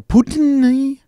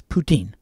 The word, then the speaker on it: poutine: you guys try poutine now your presence ain't poutine or Putin or it's the French pronunciation is poutine good stuff as I